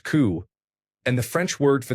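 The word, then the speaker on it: cū: The Anglo-Saxon word for cow was cu pronounced coup.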